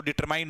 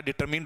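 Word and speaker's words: determined: तो डिटरमाइंड नहीं होता, डिटरमिन्ड होता है।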